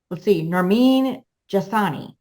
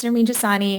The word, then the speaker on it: Nermin Jasani: Lawyers Tell All, and today I'm interviewing attorney, Nermin Jasani. Did I say it right? You did. You got it. All right. So tell us a little bit about yourself. Sure. So my name is Nermin Jasani.